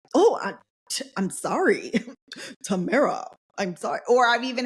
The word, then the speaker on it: Tamara: is often mispronounced um my Tamara is often mispronounced people like Tamara Tamara like even like I can introduce myself as Tamara and then somebody will immediately start calling me